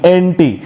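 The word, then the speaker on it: ante: बात कर रहा हूं लैटिन वर्ड एंटी का, तो उसका स्पेलिंग होता है ए एन टी, एंटी।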